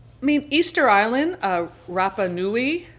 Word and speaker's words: Rapa Nui: mean Easter Island uh Rapa Nui I think is how it's pronounced is so remote that